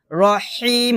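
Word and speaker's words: ٱلرَّحِيمِ: আমরা যে ভুলটা করি সেটা হচ্ছে আর রহমানির রহিম বলি আর হবে না হবে আর রহবরহ হলকের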